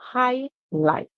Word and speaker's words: highlight: hi to greet them light is same thing you see r i and the g you just silent and then you so you hear right right so highlight when you speak about